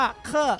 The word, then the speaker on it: 课: พูด ป้าง โอเค ครับ ตัว นี้ ครับ อ่าน ว่า เคอะ แปล ว่า resin บท